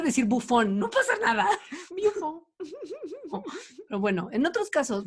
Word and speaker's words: Buffon: insistía muchísimo en pronunciar el nombre de Buffon correctamente. Entonces, cada vez que hablaba de Buffon decía Buffon.